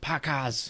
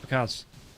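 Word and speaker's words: Pakazs: And again, I say his name weird. Pakaz instead of just Pakaz. It's the emphasis, right? You've got to hit the emphasis.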